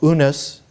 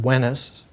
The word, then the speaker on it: Unas: The first pyramid with writing was King Pharaoh Unas, most recently pronounced Wenis, W-E-N-I-S.